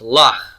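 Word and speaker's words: לָךְ: If I want to say to you, and it's a feminine singular you, it's lach, with a silent shiva here under the kaf.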